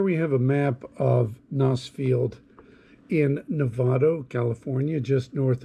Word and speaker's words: Gnoss: at the roads around nosfield the airport where i'm based here it's spelled gnoss and some people say ganas and this is where